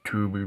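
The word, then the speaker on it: Tubi: Most likely Tuby because TubeB has all those old classic movies. TB is spelled T U BI.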